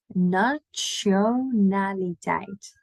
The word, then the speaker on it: nationaliteit: Instead of a sh, we go more like a ch. So a little bit more of a T sound there because we do love to pronounce our T's. So, wat is je nationaliteit? Nationaliteit. So really a ch in there.